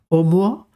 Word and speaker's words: Oumuamua: which is pronounced as omoa omoa is a Pacific or Hawaiian word that means a messenger